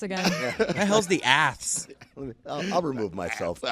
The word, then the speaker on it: A's: And this year, we were all told that it's the Aths.